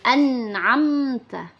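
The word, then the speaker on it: أنعمت: situ Anna amta Nah setelah amta di situ ada huruf mim sukun bertemu dengan taah di mana di hukum mim sukun jika bertemu dengan ta maka hukum bacaannya adalah izhar syafawi dibaca tidak berdengung jadi harus cepat di situ teman-teman anamta anamta tidak boleh dibaca dengung anamta nah terus kita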